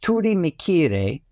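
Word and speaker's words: Turimiquire: the foundation is just an interesting thought is pronounced Turi mikir and that is an IND it comes from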